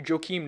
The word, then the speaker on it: Joakim: I can give you Joakim Noah. Joakim, pronounced differently and finished with an M.